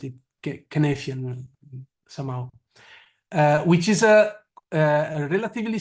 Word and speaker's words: Cynefin: So you know better than me, but the guy pronounces it Cynefin somehow, which is a relatively simple tool to understand the situation around you.